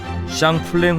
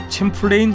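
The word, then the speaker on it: Champlain: 드 샹플랭의 이름을 따 샹플랭 호스라 불리다가 현재는 미국 식발음인 챔플레인 호수라 불리는 곳인데 2009년 5월 휴가를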